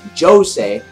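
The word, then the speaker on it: José: phantom Lords guild master who's Joe say which is spelled like Jose and the sea grain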